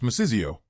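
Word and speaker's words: 맛있어요: It's which is pronounced masizio.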